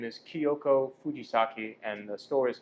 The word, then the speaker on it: Kyoko Fujisaki: out for that Brand's extras podcast go ahead pronounce that I want to mess up with grandma's name oh my grandmother's name is Kyoko Fujisaki and the store is called kyoko's kitchen you